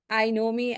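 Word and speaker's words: INOMI: all here and uh I know me as you know it stands for or I know myself I stress that it's spelled as i n o m i I know myself and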